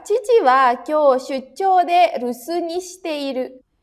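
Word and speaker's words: 留守: Yang kedua, chichi wa kyou shuchou de rusu ni shite iru. Ini ketemu sama kanji lagi, jadi dibacanya su. Ya, gitu ya, rusu.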